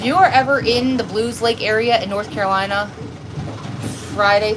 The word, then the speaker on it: Belews Lake: in Bell excuse me it's called Blues Lake but it's spelled Bellows um we actually found